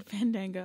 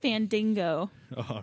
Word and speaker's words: Fandango: I think Santino's a better dancer than Fandango. He might be. Well, Fandingo. Or Fandango. Say it right. No, it's Say it Fandingo. right, say it right, or he won't fight. That's what Santino calls it, Fandingo.